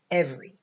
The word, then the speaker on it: every: Up here, it's E for eh. That makes a short E sound, and then a V. This E right here is silent. It doesn't make any sound. And then we have an R and a Y that makes a long E sound.